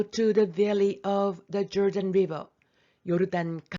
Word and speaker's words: Jordan: To go to the valley of the Jordan River. 요르단 강 계곡으로 가라. 이 조던 발음이 요르단이죠.